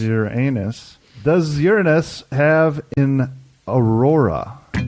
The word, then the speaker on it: Uranus: question five does uranus which is the proper pronunciation is your anus does uranus have an